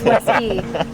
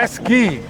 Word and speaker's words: Weske: Yes, you said it right. Thank you for joining us. Do people say it wrong? Weske. Weske. Say Weske. Morgan yeah. Weske. That's Wesky. Yeah. Wesky. Get it right.